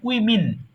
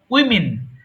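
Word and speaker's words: women: বাংলা লেখা আছে কিন্তু যদি অনেক মেয়ে থাকে তখন সেটা ডব্লিউ ও এম ই এন হয় যার উচ্চারণ হয় উইমিন উইমিন এটা অদ্ভুত লাগবে কিন্তু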